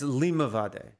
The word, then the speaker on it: Limavady: No, it's like a it's Limavady. Limavady. According to YouTube. Which will do better than I will do, for sure. Limavady.